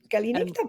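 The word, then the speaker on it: Καληνύχτα: Okay, Kalinita and Kalinikta, bravo.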